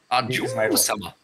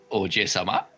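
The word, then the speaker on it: Ojousama: Your emphasis is on the wrong syllable, but you've got it. Ajosama. That is entirely wrong, please. Ojosama. He's going to keep butchering it until he finally gets the... Ojosama.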